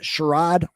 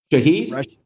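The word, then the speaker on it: Shaheed: Rasheed Sherad, is that how you say his name? Shahed.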